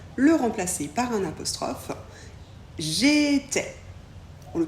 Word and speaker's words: j'étais: I se prononce e et le S on ne le prononce pas j'étais tu étais pour tu